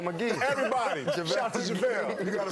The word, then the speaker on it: JaVale: The infamous, JaVale McGee. Everybody. Shout to JaVale. You got to say it right, though. JaVale.